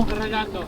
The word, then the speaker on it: Redondo: Redondo. Redondo. You gotta roll your R's, guys.